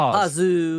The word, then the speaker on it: Pazu: Is it is it Pazu or Pu? Pazu.